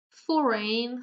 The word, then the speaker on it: foreign: Whole, light, foreign, so the G is not pronounced, and talk.